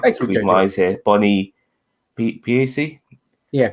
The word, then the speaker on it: Piesse: Bonnie Piesse. Yeah, Piesse.